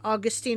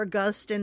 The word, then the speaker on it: Augustine: Many more aren't as notable, but Irenaeus, Origen, Augustine, or Augustine, depending on how you're pronouncing it. I've heard it both ways.